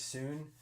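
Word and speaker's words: Sun: watching on Netflix called The Brothers Soon, spelled like son. They say The Brothers Soon.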